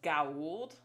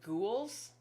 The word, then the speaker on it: Goa'uld: Daniel knows it's pronounced Goa'uld, but he keeps calling them ghouls.